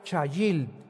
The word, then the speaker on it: chayil: La palabra hebrea chayil. C h a i l en el hebreo. Chayil.